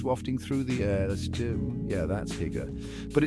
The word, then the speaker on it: hygge: Now, if you've ever heard of Hygge pronounced Hygge, not Hoogie, don't be that guy.